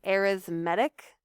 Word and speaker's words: arithmetic: specifically on arithmetic sequences yes that word is arithmetic for some reason that's how we pronounce it when it comes to sequences arithmetic sequences are like our